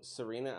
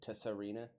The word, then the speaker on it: Serena: And it's Black Widow Serena. I always, like, before people start correcting me, I said Tessarena.